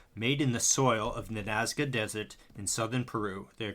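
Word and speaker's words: Nazca: I didn't want to butcher the pronunciation. Naza Na N A Zca.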